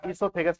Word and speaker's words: ईसोफेगस: ओ silent होता है, ईसोफेगस बोला जाता है।